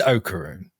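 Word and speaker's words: Okarun: It's Okaroon. Okaroon. Okaroon. Okaroon. Okaroon. Okaroon. Okaroon. Okay. But like, so yeah, so that's like the thrust of the first episode, right? And then Okaroon, he has this like kind of continuing thing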